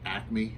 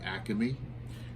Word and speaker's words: Acme: And for those in the Philadelphia market, it's pronounced Acme, not Acme.